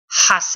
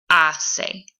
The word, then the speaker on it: hace: Remember, we don't pronounce the H in Spanish, so it's not going to be hace, it's going to be hace, hace.